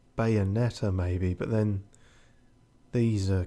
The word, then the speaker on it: Bayonetta: Bayonetta. Give me a cornetto. It's got 2 T's in it. At least pronounce one of them, you fucking muppet.